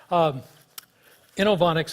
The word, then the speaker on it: Inovonics: get this going alright inoue onyx is how you say the company's name about one in my